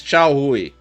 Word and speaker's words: Chao Hui: Sorry, the pronunciation is Chao Hui.